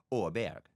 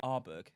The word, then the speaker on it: Åberg: Ludwig Åberg. It's a great pick. Is it? Oh, it's phenomenal. Can anyone else pronounce that properly? Arberg. No, it's not, because my Swedish mother-in-law taught me how to say it.